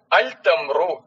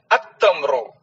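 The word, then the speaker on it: التمر: പക്ഷെ അത് ഉച്ചരിക്കുമ്പോൾ, സംസാരിക്കുമ്പോൾ അൽ തംറു എന്ന് പറയാൻ പാടില്ല, അത്തംറു എന്നാണ് പറയേണ്ടത്.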